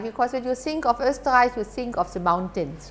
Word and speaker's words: Österreich: Österreich, you can pronounce that in the meanwhile? Or is it still the ostrich? No, it's Österreich, right?